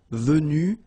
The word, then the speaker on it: venues: Same thing here, venu, and same thing here, venu, you don't pronounce S.